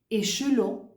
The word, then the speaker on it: échelon: Alors, la syllabe initiale maintient toujours le « et ». Tu vois, en initial, c'est toujours « et ». Et. Hein, donc, je dis échelon, épeler, et. Tu vois que la langue, elle est bien vers le bas.